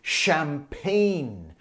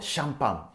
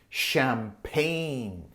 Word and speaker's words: champagne: bubble years that's Japanese English and remember the pronunciation is champagne not shampang champagne champagne I really had to get that off